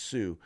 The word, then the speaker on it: Hsu: board member uh the her name is sue or h hsu is pronounced sue uh but anyway it's